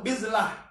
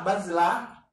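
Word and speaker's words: بِذْلة: Apalagi wasiyabin bizil tadi tuh bizlah. Apa bizlah? Dikasril ba. Ba-nya dikasroh bi. Alal absoh itu yang absoh, yang paling benar bacanya bi. Kalau dengan fathah, dengan ba, bazlah, yaitu artinya mumhina, pakaian yang usang.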